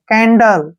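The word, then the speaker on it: candle: अब जैसे नेक्स्ट है सी ए एन डी एल ई सी ए को हम के पढ़ेंगे एन को न पढ़ेंगे डी को डे पढ़ेंगे एल का उच्चारण ले करेंगे ई का उच्चारण हम नहीं करेंगे कैंडल कैंडल क्या होता है मोमबत्ती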